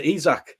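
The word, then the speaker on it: Isak: we've brought in um alexander izak i keep saying isaac but i'm going to have to correctly sorry i think that it's taken me six months to learn how to pronounce to be honest with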